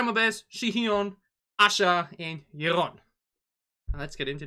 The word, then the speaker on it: Aisha: english you know but it's actually asha asha so completely cutting out the eye and go for asha instead and for her i